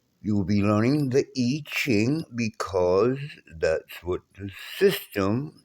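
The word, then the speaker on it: I Ching: It's not pronounced IQing, but we Americans, we do what the hell we want to do.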